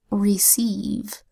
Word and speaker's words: receive: Next word is receive. Receive is spelled with an R that says R, an